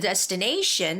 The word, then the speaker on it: destination: shortly okay so I've already the word the destination has the stress on the nee and a syllable so be careful with that and I'll